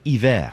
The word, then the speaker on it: Iver: I think you're supposed to pronounce it hiver. Like, Bon Iver. Like the French for like winter. Ivor the engine. Hiver. Bon Iver the engine. Bon hiver. And I've heard tell from